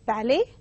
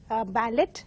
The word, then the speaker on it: ballet: pronounced as asthma and the third word is ballet mispronounced by many as a ballad they have that they include the T but